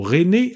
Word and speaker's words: René: attendant pour Madeleine rebaptisé Reiner ou plutôt René avec la prononciation à la française et et ces acolytes